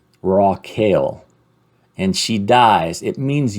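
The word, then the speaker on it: רחל: about it Rachel dies Rock Hill rockale is kind of How It's pronounced or it's it's uh that's the phonetic of it raw kale and she dies it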